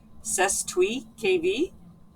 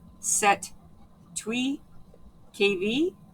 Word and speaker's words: Cestui Que Vi: can pronounce it with cese KV Act of 1666 or set twe KV which the S is silent and basically what this